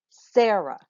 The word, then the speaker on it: Sarah: I could say Sarah or Sarah. One's my name and the other is not. I say my name Sarah. So which one gets the most emphasis? It's the first syllable.